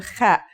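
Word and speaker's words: خاء: Kha is a sound some people make when they laugh. It's also similar to the sound people make when they snore.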